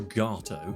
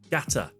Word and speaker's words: Gatto: It's not ELGATO or GATO. It's GATA, you twat.